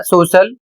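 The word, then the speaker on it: social: अगला नियम है जब सी के बाद आई ए आई ई या आई ओ जैसे स्वर एक साथ आते हैं तब सी का उच्चारण श हो जाता है।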